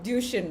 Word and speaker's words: Duchenne: dystrophy but not everyone is aware of uh duchin right that's the right pronunciation yeah yes muscular dystrophy so could you